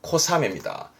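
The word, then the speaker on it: 小雨: 오니까 작은 배란 얘기니까 발음은 이때는요 코사메입니다 조심하세요 암웨이가 아니라 사매입니다 가랑비를 의미해야죠 가랑비 바르면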